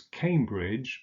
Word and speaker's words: Cambridge: unser Notting oh sure Cambridge is on the river cam so it's Cambridge that can the German